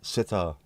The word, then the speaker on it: sitar: Do I pronounce sitar like zither? I don't. Sitar uh is a bit like guitar and also not kar but similar isn't it?